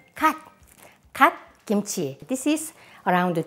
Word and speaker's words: gat: Mustard greens, just one syllable in Korean, gat.